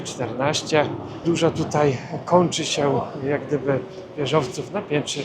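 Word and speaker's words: 四: Mniej więcej brzmi to jak si w naszym języku i tutaj 4 i śmierć wymawia się bardzo podobnie, stąd liczba 4 kojarzy się Azjatom ze śmiercią.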